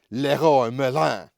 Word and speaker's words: Leroy Merlin: down in the alar is Leroy Merlin pronounced in Portugal with an odd fake French accent Leroy Merin but I'm now comfortable